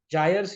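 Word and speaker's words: gyre: आर जायर्स या गायर जायर्स या गायर जैसे भी आप इसको प्रोनाउंस करना चाहे सो बेसिकली अगर मैं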